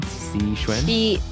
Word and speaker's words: Xixuan: How do you pronounce that again? Xixuan?